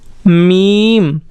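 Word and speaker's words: میم: इसका प्रोनाउंसिएशन हम कैसे करेंगे, मीम।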